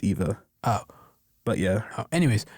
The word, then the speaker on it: Eve: Excuse me, it's Eve, but he can't pronounce it because he's like not made to speak. So he says Eva.